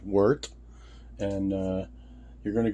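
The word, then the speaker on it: wort: Um, you're going to make some W, spelled W O R T, but pronounced Wart.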